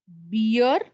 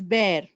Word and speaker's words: bear: it's banana purana right like you say it as beer not that beer a polar bear but it's bear it is known as bear not beer it is